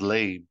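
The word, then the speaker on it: לב: And this word heart in Hebrew, pronounced lab, is defined as, I got this from Strong's Concordance, it's defined as the inner man, the mind, the will, the heart.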